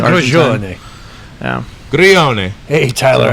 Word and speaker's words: Grillone: Is that how you say it? Grillone. Grillone. Grilled cheese. Grillone. Grillone. What is that? What is that? Yeah. It is Italian.